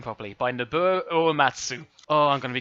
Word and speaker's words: Nobuo Uematsu: main theme from a farmer fantasy 7 by Norbert deader by I climb in say his name properly by Nobuo Uematsu oh I'm going to be crucified for that